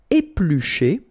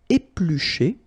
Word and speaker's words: éplucher: Éplucher, okay, remember when we've got this CH, the sound is sh, okay? Éplucher, all right?